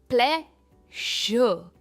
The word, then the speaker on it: pleasure: इसे कहेंगे प्लेजर। और अगेन प्रोनाउंस नहीं होता, इट्स प्लेजर और प्ले पर इसका स्ट्रेस है। प्लेजर।